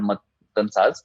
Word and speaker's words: Matnsaz: So the Urdu Keyboard is called Matansaz. I spell it Matnsaz.